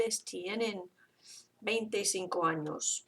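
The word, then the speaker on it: años: a little squiggly yes that's pronounced like the NY sound like mañana or is an end when you sound so because I don't want to hear if you don't say anos and you say a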